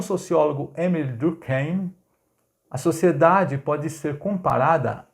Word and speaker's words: Durkheim: o sociólogo Émile Durkheim muita gente fala do time mas na verdade é Durkheim que tu cai ai é um a pronúncia meio que alemania é de uma turma mais voltado para o francês seria mais Durkheim é mas como eu